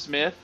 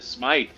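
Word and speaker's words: Smythe: a CO cover you supposed to be pronounced Smith is it supposed to be that's right everybody always thought it was smile in in the cartoon series in the 90s it's they pronounced it smik in the cartoon did they okay yeah I I was at a you know that's crazy and that is interesting because it was supposed to be Smith because in one of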